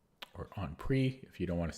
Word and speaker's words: en prise: In my book, I did some research, and it's actually pronounced en prise because it's French. That's how the French say it. But almost everybody says en prise. And again, it sounds pretentious if you say en prise.